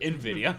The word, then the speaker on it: Nvidia: to pronounce it. Nvidia.